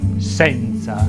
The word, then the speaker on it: senza: Con la E aperta si pronuncia la parola senza.